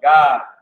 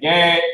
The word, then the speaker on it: Gad: The Native American Indian, so-called, is the tribe of God, which the white man pronounces as Gad, but is the tribe of God in the Hebrew, all right?